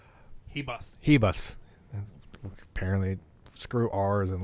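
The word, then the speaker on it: Ribas: It's Rebus. Hebus. Apparently, screw R's and letters. So the Amanda fight, the Amanda R fight, even though R is silent, non-existent.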